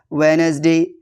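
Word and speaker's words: Wednesday: कुछ वर्ड जहां D silent होता है। जैसे वेडनेसडे हैंडसम सैंडविच।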